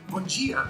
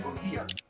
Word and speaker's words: bom dia: to always say like bom dia, boa tarde, like good day and good afternoon. But here they say bom dia and boa tarde. They kind of soften the vowels at the end and don't enunciate them